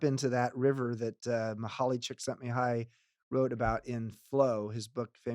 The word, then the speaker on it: Csikszentmihalyi: you know tap into that River that muhuali Csikszentmihalyi wrote about in flow his book famous book